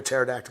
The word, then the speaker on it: pterodactyl: why can't you hear pterodactyl go to the bathroom because the p is silent how you guys know